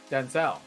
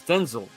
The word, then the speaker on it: Denzel: there real quick yeah did you know Denzel Washington would be saying his name wrong the entire time Denzel it's Denzel oh really he said it